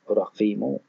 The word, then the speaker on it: Raqqimu: This ambiguity in the orthography shows that the town's name was almost certainly pronounced Raqqimu in Nabataean Aramaic, since it could be represented both with or without the matter legionis in Aramaic.